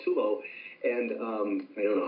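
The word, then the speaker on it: Tolo: It's called Tulo, T-O-L-O. It's called Tulo, and I don't know how it's spelled in Persian, but they have their own version of 24.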